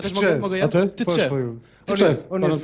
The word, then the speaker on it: Tczew: Tczew. To jest obowiązująca nazwa, wymowa nazwy miasta, w którym się urodziłem.